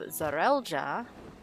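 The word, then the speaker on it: Zareel: In the case of Zarelja, Bakuljaja's father, he has the double E in his name, but it is pronounced Zarel.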